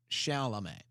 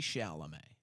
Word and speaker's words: Chalamet: Chalamet. Timothy Chalamet.